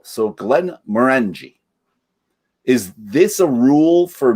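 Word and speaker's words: Glenmorangie: is often mispronounced and the emphasis should always be on the second syllable so glenn maranji is this a rule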